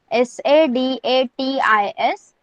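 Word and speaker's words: सदतीस: 37 you can pronounce it like as SADATIS 37.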